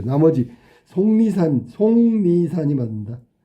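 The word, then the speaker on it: 속리산: 아, 이건 틀렸네요. 이건 비음아서 송리산이 돼야 돼. 송리산. 송리산. 송리산. 자, 6번의 정답은 그래서 2번이 된다. 송 니 어머니는 니 산 이렇게 발음해야 맞는 거야. 지금 속 니산 이거 틀렸지.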